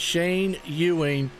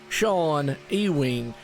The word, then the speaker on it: Shane Ewing: say on the hood say it right joe because for the longest time i would call him uh sean ewing for some reason i just could not get the shane out and i had no